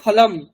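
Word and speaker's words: फलम्: দেখি কি আছে নারঙ্গ ফলাম নারঙ্গ ফলাম লেবু নারঙ্গ ফলাম নারঙ্গ নকার র মানে উ যেটা বাংলায় বলি উ নারঙ্গ ফলাম ফলাম ফলাম লাস্টে দেখুন অনুসারী হলন্ত সেজন্য ম এর আমরা উচ্চারণটা ফলম করছি যদি না থাকতো কি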